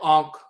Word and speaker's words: ankh: took the term for Ankh, which is also written and pronounced Yonk and so forth, and they corrupted into, and this particular spelling is the Ionk or Yonk or Ionk spelling.